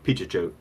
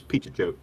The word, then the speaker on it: Pichichote: And so I think it's actually Pichichote. So Peachy I've Show. listened to it on a few interviews. So it's Pichichote.